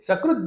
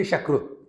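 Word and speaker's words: सकृत्: Then, sakrut jnanena mukti syat. See, when we pronounce the words wrongly, it creates a havoc. Sakrut means once. Bengalis cannot say Sakrut. They will say Shakrut.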